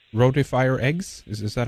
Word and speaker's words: rotifer: of microorganisms, you mentioned, I think it's called rotifier eggs. Is that how you pronounce it? Rotifier, R-O-T-I-F-E-R.